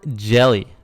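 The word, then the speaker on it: Hjelle: you're doing number ten sean jelly with a silent h love it kentucky wildcat 23 years old 6 foot 11 228 pounds 6 foot 11.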